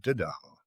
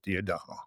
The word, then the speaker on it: D'Adamo: My name is Peter D'Adamo, although I've been told that it's a mispronunciation of the Italian surname, which is actually supposed to be D'Adamo. But I'm from Brooklyn, so here it is at D'Adamo.